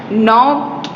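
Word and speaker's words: knock: तो देखो के एन, जैसे कि नाइफ है, फिर नो है, वो सारे वर्ड्स ऐसे हैं के एन से स्टार्ट होते हैं. वो उसमें के साइलेंट होता है इसलिए उसका साउंड आता है नॉक.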